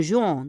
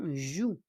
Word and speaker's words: jouent: On ne prononce pas l'ONT. C'est pas un jouant, hein? Joue. Tes enfants jouent.